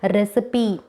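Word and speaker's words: recipe: ரெசிபி, ஸோ இங்கே ஈ லாஸ்ட்டில் இருக்குது, ஆனால் நம்ம இங்கே ஈயை சைலண்ட் பண்ணலை, ரெசிபின்னு ரீட் பண்ணுறோம்.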